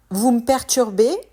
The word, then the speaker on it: vous me perturbez: devient toucher à rien vous me perturbez là aussi la prononciation est différente de l'écrit le me devient m on supprime le E vous me perturbez vous